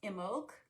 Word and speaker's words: Imbolc: starts turning towards spring, known usually as Imbolc. That's how it's pronounced.